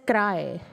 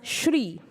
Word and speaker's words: Sri: example called SRI I it will not be pronounced as cry it can be pronounced as Shri that is s h